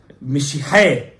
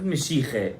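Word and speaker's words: משיחה: Mishihe. Not Mishiche.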